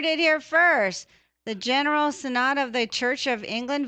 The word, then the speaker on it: synod: And do you say it's synods or synods? Synod, I believe is the way that is pronounced.